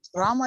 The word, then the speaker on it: Rama: really so important and not ram ram but Rama Rama what is your what